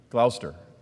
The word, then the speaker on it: Gloucester: Gloucester. The C is silent, sorry. So the Gloucester, England, and it came